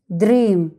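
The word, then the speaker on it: dream: اقراها كده من غيرها، دريم. يبقى القاعدة شغالة. على فكرة القاعدة دي لو نفذتها هتسهل عليك كتير جدا. لو في حرفين متحركين في الكلمة ننطق الأول باسمه والتاني نلغيه، تبقى دريم.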